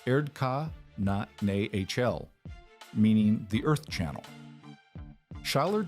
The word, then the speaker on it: Erdkanal: In 1897, a German architect named Heinrich Schaller, working in the Rhine Valley, published a paper on what he called the Erdkanal, pronounced Erdka na HL, meaning the Earth Channel.